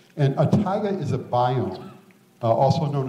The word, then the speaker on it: taiga: know how to pronounce it's pronounced tiger and a tiger is a biome also